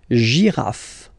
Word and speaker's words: girafe: Now here, well, basically it's not that difficult for this one, as usual, final E, not pronounced, okay, and then you get the sound GI. J, girafe, girafe, une girafe, all right?